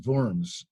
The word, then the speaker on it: Worms: diet of worms but worms is a city and it's probably pronounced vorms in german um and it was